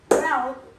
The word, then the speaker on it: route: Route rhymes with shout.